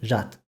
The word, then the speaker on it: жад: Sometimes the consonant at the end is devoiced, but it's not reflected in the orthography, like the Persian word for memory, jat.